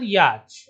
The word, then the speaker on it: yacht: A boat with sails and sometimes an engine used for either racing or traveling for pleasure rhymes with court. Answer: yacht. So you have to write it here down.